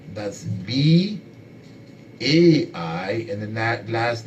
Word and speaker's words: Bai: We also have another Bai Bala, that's B-A-I, and the last name is spelled G-B-A-L-A, Bai Bala.